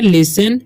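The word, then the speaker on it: listen: तो इसे हम पढ़ते हैं लिसन, ठीक है। ओके, लिसन, ठीक है। इसे लिटन नहीं पढ़ना है, ठीक है।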